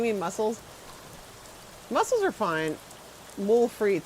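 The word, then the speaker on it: moules frites: More fre. That's uh when you have muscles with French fries. That's how they say it in French. Mul fre.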